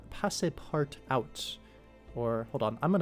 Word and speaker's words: Passepartout: is in the viewport display, and it's called Passe Part Out, or hold on, I'm going to actually just go here and say, how do you pronounce Passepartout?